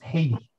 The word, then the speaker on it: Haiti: And Jürgen, just so you know, the country is pronounced Haiti.